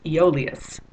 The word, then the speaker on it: Aeolus: Anyway, his name is Aeolus. Sounds like Olio, doesn't it?